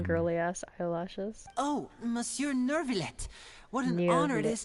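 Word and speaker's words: Neuvillette: Oh, Monsieur Nervillet.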